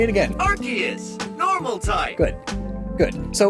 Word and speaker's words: Arceus: This is the trailer for the Arceus and the Jewel of Life Pokemon movie, and the narrator pronounces it as Arceus Awakens.